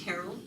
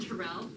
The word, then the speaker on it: Terrell: you all know that the correct pronunciation of my last name is Terrell rather than Tyrell it's terrible thank you